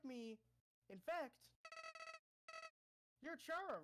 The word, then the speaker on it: Chara: listening now, I prefer to say it as Chara. I know it's supposed to be an anagram of not anagram, but it's supposed to be a thing of character, Kara. But to me, Kara is spelled Kara. So I know I'm gonna be saying Chara. I'm sorry if that's offending you people, but that's just the way I like to say it.